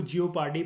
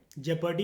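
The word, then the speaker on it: jeopardy: इसको जियोपार्डी बोलते हैं, जेपर्डी बोल सकते हो। जेपर्डी इज़ the correct pronunciation.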